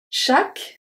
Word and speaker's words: chaque: Chaque. Chaque. Année. So the U and the E at the end of chaque is not pronounced.